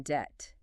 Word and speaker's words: debt: But what about the really bizarre, unnecessary silent letters, like the B in debt? D E B T, I mean, there is no B sound there at all.